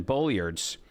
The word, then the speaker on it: Bolyard's: here called the cauliflower salad we should mention Bullards is uh the place it's called bullard's meat